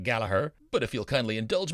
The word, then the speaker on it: Gallagher: it does it's an unusual spelling of galagher or as the Irish pronounce it galaher but if you'll kindly